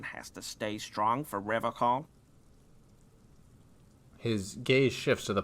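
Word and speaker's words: Revachol: But someone has to stay strong for Revocol. His gaze shifts to the pile of soggy logs at his feet. He pronounces Revocol with a hard K, unlike other people.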